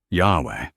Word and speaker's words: Yahweh: Yahweh carries the strongest evidence.